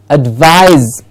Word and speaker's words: advise: veil yes and next word very important advice advise yes what's the difference between the advise and